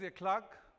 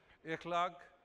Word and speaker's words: Ekhlaque: through an Open Secret my name is a Clark mispronounced a clock one tenth of a million pronounced correctly a clock means good behavior my friends say these